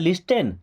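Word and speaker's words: listen: दोस्तों यहां पे क्या लिखा है? लिसन। नो। यहां पे टी होता है साइलेंट। क्या पढ़ते हैं? लिसन।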